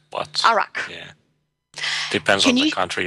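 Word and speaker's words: Iraq: was taken in Ur is that how it's pronounced urk uh no it's actually arak but arak yeah depends on the country you're from oh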